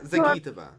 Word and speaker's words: Zagitova: Alina Zagitova. Yes. Zagi. It's on the gi.